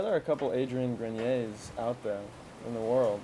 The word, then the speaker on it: Grenier: are a couple adrian grenier's out there in the world so maybe there's another really yeah with a different spelling or something but you pronounce yours grenier the french pronunciation and melissa sabrina is